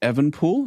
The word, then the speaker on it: Evenepoel: Um Is it Evenepoel? Is that how you pronounce that? Evenepoel, yep.